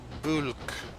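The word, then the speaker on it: Bwlch: I pronounced the CH wrong. But you give points for effort. Bulk. Bulk? Tanny bulk. And of course you've got to say it with that lovely Welsh accent as well.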